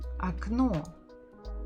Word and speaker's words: окно: The stress is on the final syllable. What about the first one? This one again. There is no stress, so we must say it as А.